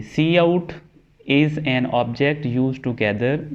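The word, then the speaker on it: cout: Next हमने जी return ये जो मेन ब्लॉक है उसके अंदर वाली जो सी आउट स्टेटमेंट है उसके बारे में देखते हैं। सी आउट, इसको प्रोनाउंस किया जाता है सी आउट, इज़ एन ऑब्जेक्ट, ये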